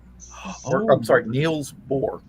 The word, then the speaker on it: Niels Bohr: the guy was Neil Bohr's. Or, Oh. I'm sorry, Niels Bohr.